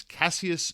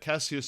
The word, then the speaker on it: Cassius: Also, in talking about this now, I'm realizing that I pronounce Ali's name as Cassius, but the Roman version of it as Cassius. It's spelled the exact same way, but every Cassius in Roman history is Cassius. Cassius seems like, I don't know, an Americanization or a southern accented version of the same name or something, so if you hear me using both pronunciations, Cassius is definitely for the Roman dude.